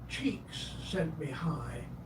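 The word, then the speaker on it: Csikszentmihalyi: Mihali cheeks zent mihali pronounced approximately cheeks sent me high was a Hungarian American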